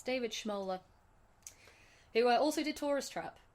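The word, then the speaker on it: Schmoeller: Directed by I'll let you say his name because you know how to pronounce his name. Thank you. It's David Schmola who also did Taurus Trap by the way.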